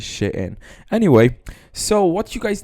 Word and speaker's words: Shein: on the homage of Shane I call it Shan I don't know why but like the correct pronunciation is sh in anyway so what you